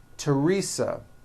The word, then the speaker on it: Teresa: Although these next words and names are spelled with a thron if they were spelled with a normal t like that. And these words are Thomas, Thompson, Teresa, Thailand, Tames, like the river, Esther, and time, which is a spice.